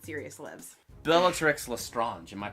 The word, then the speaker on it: Lestrange: Bellatrix Lestrange. Am I pronouncing her name right?